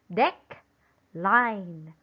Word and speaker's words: decline: correct it will become dec line deck line now where should we put the stress amazing it should be on the second syllable on top of letter i decline decline again decline